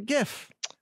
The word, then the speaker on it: GIF: disproving your point yes i agree it's a gift the gif yeah and if you want a soft g